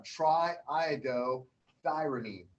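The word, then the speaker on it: triiodothyronine: lots of syllables okay but it's not too bad if you break down triodo thyronine we call it t3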